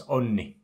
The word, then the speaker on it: Onni: And they call him Oni, because again, in French, we don't pronounce double N's or anything like this, you know.